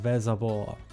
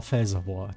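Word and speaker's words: Velsarbor: this game, German game called Vazavore or Fazavore depending on whether you pronounce it correctly or incorrectly.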